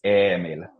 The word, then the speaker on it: Emil: So when I say my name, it's Emil. E. Emil. E.